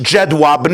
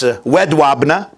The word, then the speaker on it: Jedwabne: The Soviet Union then occupied part of Poland, including the city, it's pronounced in English Jedwabne, I believe in Polish it's Wedwabne.